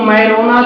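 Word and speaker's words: Majorana: scientist Italy का था वहां पर जे साइलेंट रहता है तो मेरोना चिप्स के नाम से कक साइंटिस्ट का नाम मेरोना था एम ए जे ओ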